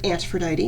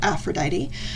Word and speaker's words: Antphrodite: You are Antphrodite, not Aphrodite.